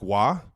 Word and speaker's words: Roy: Mark Maguire I got Patrick Wah also known as Patrick Roy in the Kelsey household because dad only pronounces things one way, his way.